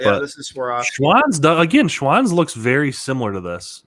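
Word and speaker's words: Schwan's: kids dude i missed schwann's yeah schwann slapped i always thought was just swan and i thought mom and dad just couldn't pronounce swan for the longest time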